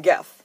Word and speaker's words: Gef: Oh, and by the way, I'm calling him Geff. His name isn't Jeff. If it was Jeff, it'd be spelled with a J.